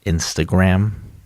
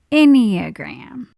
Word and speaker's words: enneagram: you about the enneagram the what enneagram honey it's uh pronounced instagram ah nope enneagram okay maybe this will